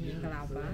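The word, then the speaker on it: မင်္ဂလာပါ: So Myanmar people say Myanglaba. Myanglaba. So it's about hi and hello.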